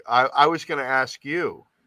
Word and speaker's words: Askew: i was going to ask you how are you pronounced i'm going to say luke askew i think it's ask you i knew somebody with that name and they pronounced it ask you but um but i